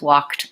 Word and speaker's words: walked: no II sound and sometimes like in Darlene's word grasped or in the words walked and talked the IDI actually says the T sound okay so alright so